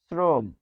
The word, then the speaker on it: শ্রম: এর মত উচ্চারণ হবে যেমন শ্রম এটি হবে শ্রম শ্রম দেখুন ছিল আলো বস স